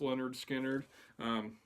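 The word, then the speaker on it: Lynyrd Skynyrd: First up, we got Leonard Skinner, pronounced Leonard Skinner.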